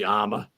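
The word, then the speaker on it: Amagansett: It's pronounced actually. It's said individually. So that'd be Amagonset. Amagonset.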